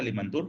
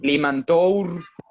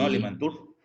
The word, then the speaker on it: Limantour: y cómo se escuchan todo se escribe como se escucha a limantour limantour no alimento limantour porque si tenían la